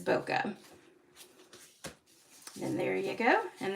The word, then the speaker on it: bokeh: a pretty one and this is called bokeh beautiful bokeh I think that's how you pronounce it at least that's how I pronounce it it is boka then there you go